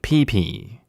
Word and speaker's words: Pippi: name is Pippi, but it's pronounced like pee-pee.